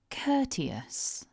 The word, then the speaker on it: courteous: So as you can see here, it's a 3-syllable word and we need to stress syllable 1. So repeat after me, focusing on the syllable stress. Courteous.